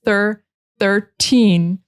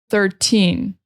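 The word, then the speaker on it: thirteen: So in order to differentiate it from 30, you have to really pronounce that in at the end. 13.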